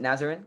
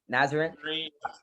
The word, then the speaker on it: Nazarene: transferred from northwest nazar nazaren is that how you pronounce it nazarin correct nazarene uh university where he was